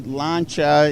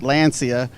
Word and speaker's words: Lancia: So this is a 1970 Lancia. Here in the States, they pronounce it Lancia.